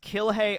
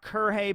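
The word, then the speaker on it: Kirge: This is, I think his name is pronounced Kilhei Opie. Not Kurhei, but Kilhei, which is kind of appropriate given his attitude.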